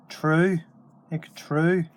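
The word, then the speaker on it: tnúth: And you notice the N there, that's pronounced like an R. So it's true, even, that's what it looks like. It doesn't look like it, but it's true.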